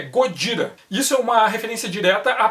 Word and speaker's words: Gojira: irritada aproveita para xingar ele não é Godzilla é gojira-the ser uma referência direta